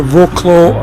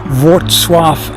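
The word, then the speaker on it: Wrocław: So I've just left Roclaw or Wswaf as they pronounce it.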